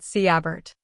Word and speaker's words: Sigebert: "Sigebert," I said, carefully pronouncing it Siabert.